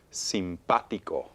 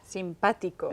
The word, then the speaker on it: simpático: I hear stress pa. Pa. Simpático. Okay. Y termina en vocal. Termina ends en in a vowel. vocal. So the stress should be we hear it on the A, so it needs an accent.